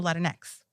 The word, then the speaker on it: Latinx: I say Latina, Latino, Latinx. So that's why I think that's where that X comes in the way that I'm pronouncing it. Because when I'm talking about certain things, I'll say Latina, Latino, Latinx. Latina, Latino, Latinx populations. So that's that's where the X is coming in.